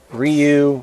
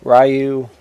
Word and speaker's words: Ryu: play as Kumi ayani Ryu rayu however you want to say his name I call him rayu but I'm sure some people call him Ryu that's probably the actual pronunciation of the name and kunoichi that's like